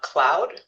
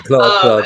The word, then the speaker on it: Claude: And so I literally just bought Claude. Hmm. I keep saying it wrong. Yeah, yeah. Cloud.